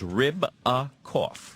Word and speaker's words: Ribakoff: It's just like it sounds. Ribakoff. Ribakoff. Okay. Like ribs with a cough.